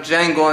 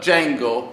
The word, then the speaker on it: Django: in Jamie Foxx's character, Django. The D is silent.